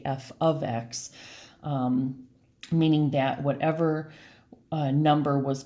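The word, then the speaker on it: f(x): You would not say this, you would not say f times x, you would say f of x, meaning that whatever number was placed into the x here.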